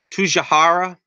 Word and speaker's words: Tsujihara: out the guy's name what's the name Kevin to shahara that's how you pronounce his name again I lost a lot of the quote here but anyway Kevin tsujihara is in charge of the DCU Warner Brothers